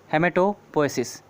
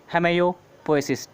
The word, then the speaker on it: hematopoiesis: American language में इसे कभी कभी कहते हैं हेमेयोपोएसिस, टी साइलेंट कर देते हैं।